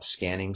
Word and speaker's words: SQANNING: It's called scanning, spelled with a Q, just to make it a little different, but it references the actual word scanning, as in scanning the body.